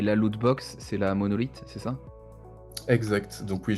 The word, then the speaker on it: MNLTH: Mais oui, c'est la monolith, donc qui s'écrit, MNLTH. Donc ils l'ont écrit, de façon assez abrégée en retirant les O, et cetera.